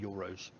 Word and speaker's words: gyros: I mean, to me it says gyros. But everyone pronounces it euros.